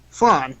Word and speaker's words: Phlan: was once based in Flan. No, it's spelled Phlan, so I don't know how to pronounce Yeah, that. it's flan. Flan, like the goo, right?